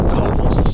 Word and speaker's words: Cowles: And the highest point in San Diego City is Cowles Mountain, and that's how you're supposed to pronounce it, from what I've heard. Not Cowles like a lot of people pronounce it.